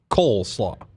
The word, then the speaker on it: coleslaw: Is it coleslaw or coleslaw? What are you saying? Coleslaw. Cold? Like coal. Oh, coal.